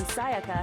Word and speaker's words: Sayaka: Well, to be more specific, what the killer didn't know was that Makoto and Sayaka had switched rooms, which is what led to the misunderstanding about the bathroom. If Sayaka had been in her own room, then There